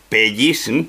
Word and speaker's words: pellis: ahí lo ves escrito lo pronunci así pellis eh con dos con dos con una elle y te das cuenta